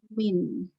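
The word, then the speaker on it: mean: Jadi menotasikan bacanya adalah min, mian.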